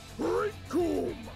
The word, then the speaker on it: Raikoum: The name's Raikoum. It rhymes with Doom!